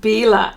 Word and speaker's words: Bila: Okay, it's pronounced Bila. Okay, thank you. I'm not very well. I pronounce things differently. I have been known to pronounce things differently, but Bila, thank you so much, because I